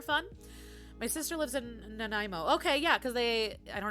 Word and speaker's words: Nanaimo: Nanaimo?